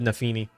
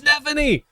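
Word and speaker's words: Nephenee: I said Nefini. O. It's Nephany.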